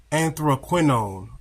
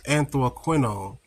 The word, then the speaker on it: anthraquinone: Anthroquinone. Okay, I pronounced it wrong. So it's anthroquinone.